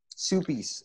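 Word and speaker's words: Suppes: to stanford and pat supes was there very old and incredibly distinguished person soupy's is that the pronunciation i always thought yeah patrick supes are not everybody that's the way he pronounced it okay uh so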